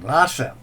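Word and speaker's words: Lhasa: Lassa spelled L H A SA.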